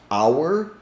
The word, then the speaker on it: our: to pronounce this word our which sounds exactly like h o u r hour as in time and